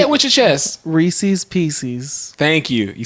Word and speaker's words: Reese's: So if it's the peanut butter cup, it's a Reese's. Reese's.